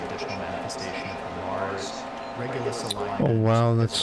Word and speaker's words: Regulus: When even the name Regulus, which we should be pronouncing Regulus because it's the same reg as in region.